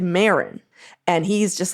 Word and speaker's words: Marin: shouldn't say out loud I cringed when I heard y'all pron pronounce Marin the emphasis is on the I not a big deal